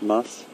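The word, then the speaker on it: musth: or the mus gland M that's spelled everyone m s it's a little bit of a bit of a mouthful must so you say the mus must and and then F at the end must and that's is saying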